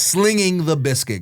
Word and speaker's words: Slanging the Biscuit: So I intentionally spelt it wrong when we made the podcast because I wanted people to say, okay, it's spelled a certain way, but he says it another way, and people would just